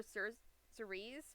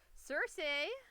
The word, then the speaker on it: Cersei: Now we're moving on to Cersei, who I sometimes call her her C sice because I didn't know how to say her name. I forgot to double check it because I was like, "Oh, it looks like it's pronounced like this." It was.